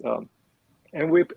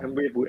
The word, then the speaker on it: Mwepu: It's Mwepu, Oh. Mwepu, MWEPU.